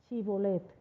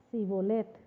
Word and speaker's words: Shibolet: Si él respondía no, entonces le decían: ahora pues di Shibolet. Y él decía Sibolet, porque no podía pronunciarlo correctamente.